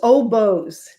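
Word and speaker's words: Oboz: How do you pronounce it? Oh, it's Oboes.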